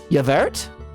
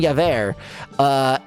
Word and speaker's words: Javert: Yevert? Is that not how it's pronounced? Is it Javert? Or it's Javert, isn't it? Because the T is silent.